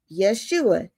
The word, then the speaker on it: Yeshua: It's H344, Yeshua. You know, that's how it's pronounced, even though there's no H right there. But Yeshua, his name is deliverance.